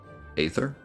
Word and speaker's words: Aether: I mean sounds like 11's thing how' you pronounce a ather Aether that's how they pronounced it in the cut